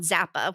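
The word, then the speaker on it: Xappa: the founder and CEO of a company called Zappa which is spelled xap paa she tells me it's the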